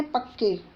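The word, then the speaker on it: Pakke: Pakhui wild life sanctuary का एक दूसरा नाम है पक्के, पाक्के जिसको बोलते हैं, प्रोनाउंसिएशन देख लीजिए आप, ठीक है।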